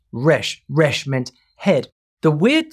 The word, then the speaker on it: resh: In Egypt, letter R was a human head in profile, facing left, and pronounced resh.